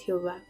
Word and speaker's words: Jehová: Entonces, ahora ya con esas vocales lo podemos pronunciar y lo decimos Jehová o también Yahé o Yahweé, como lo quieran leer.